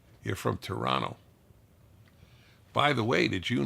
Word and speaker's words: Toronto: you say in Toronto Toronto they don't pronounce the second T you're from Toronto by the way did